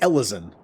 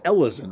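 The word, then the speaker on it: Elezen: was oh yeah it's Ellison that's what it was that's what it was it's pronounced Ellison right but it's a it's a play on like Elven Ellison Elven but the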